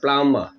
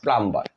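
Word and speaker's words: plumber: থাকে তাদেরকে বলা হয় প্লামমা প্লামমা নট প্লাম্বার প্লাম এবং কিছু এক্সেপশনাল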